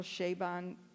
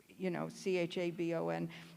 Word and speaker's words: Chabon: And he says the way to remember his name is Shea Stadium and Bon Jovi, or Bon Jovi.